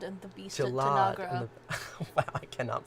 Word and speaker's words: Tanagra: Darmok and Gilead are the best at Tangara. Oh, Darmok and Jalad and the beast at Jalad Tanagra. Wow, I cannot pronounce things.